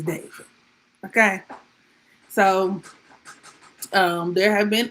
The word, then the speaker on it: D4vd: Is it David? I'm gonna call the nigga David because that's what I feel like is on his birth certificate. But I know it's spelled in a very peculiar kind of way. D4vd. Please. The man's name is David.